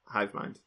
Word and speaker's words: Hivemind: Hivamond, but everywhere else it's Hivamond. It's spelled Hivemind, but it's pronounced Hivamond.